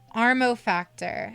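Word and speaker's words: Amorphactor: Armo Factor is how you pronounce it.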